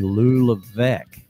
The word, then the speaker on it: Lou Levesque: So we're going to bring in the one and only Lou Levesque. And that is how you pronounce his name, and I'm going to have him confirm that for us.